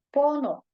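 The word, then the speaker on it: 번호: Heeh Nah di sini bonho cara baca yang benar ya rabun h-nya sama jadi langsung Bono ya bonoonon Jadi kalau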